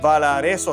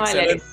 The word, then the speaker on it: Valarezo: Y en el día de hoy me acompaña la señora Valareso. ¿Así se pronuncia el apellido? Sí. Valareso.